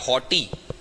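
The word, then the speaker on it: haughty: इधर से ले लो आप शब्द नोटी, जैसा ही प्रोनाउंसिएशन वाला शब्द है HAUGSTY, हॉटी।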